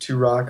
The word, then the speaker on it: Turoque: see that my friends they call me turoque and it's pronounced to rock of course and then on